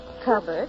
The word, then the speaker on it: cupboard: how covered went through the cupboard it rhymes with hubbard oh out here in